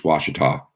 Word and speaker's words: Ouachita: in the United States Washita yes that's how you spell it Washington I rest I'm sorry that's how you say it wash it off it's